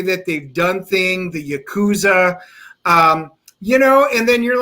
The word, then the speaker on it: Yakuza: arts and the Dennis, you're not saying it right. It's Yakuza. It's the Yakuza.